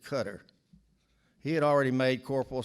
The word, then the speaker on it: Qatar: Qatar near Saudi Arabia Bobby pronounced it cutter he had already made